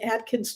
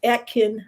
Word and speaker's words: Atkin: guitar was was an Atkins 12 fret when you Atkin I keep saying it wrong sorry Atkin uh makes a